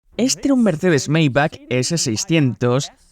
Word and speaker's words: Maybach: Mayback y sí, esa es la pronunciación correcta.